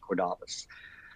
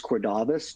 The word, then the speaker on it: Cordavis: of a company called Cordavis. And it is Cordavis, not Cordavis.